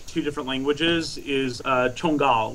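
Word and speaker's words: Jongal: different languages is uh chungal which is spelled j o n g a l so in English it looks like says jangal uh it means scorpion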